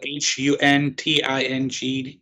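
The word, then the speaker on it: Huntingdon: that's how it's spelled h-u-n-t-i-n-g-d-o-n County Pennsylvania right it's spelled hunting Don foreign g-river not done who the [ __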